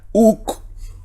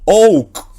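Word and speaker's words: οὐκ: Se pronuncia uk. Usted dirá, pero ¿cómo? ¿Por qué pronuncia uk y no ouk? Porque dijimos, aquí está la y y usted está viendo que está antecedida por vocal.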